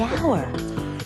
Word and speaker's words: hour: not the first sound the H is silent the hour what's what about the